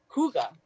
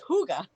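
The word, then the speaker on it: hygge: about oh here and it gives you the pronunciation Huga it's Huga okay Huga I like it I like the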